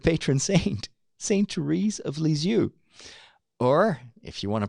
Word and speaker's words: Lisieux: Therese of Lisieux or if you want to pronounce it correctly in French set that has de L'enfance is you that has delese you that's how you pronounce it not to Ruiz of leads you